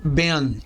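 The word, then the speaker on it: בן: ser transliterada como Ben simplificando ela é lida como Ben significa filho em aramaico se diz bar tá o no n final deve ser lido como n mudo tá BM então não como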